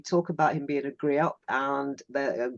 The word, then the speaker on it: griot: It's also interesting that you talk about him being a griot and the griot. Let's get the pronunciation right. It's a French word.